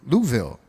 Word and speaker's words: Louisville: Louisville. He'll tell you how to pronounce it. He knows. Louisville. And Just think like you're drunk.